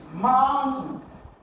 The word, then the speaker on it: mountain: Option C, mountain. For mountain, is it a noun or an adjective or a verb? It's a noun, that's the name of something. So you've got to stress the first syllable.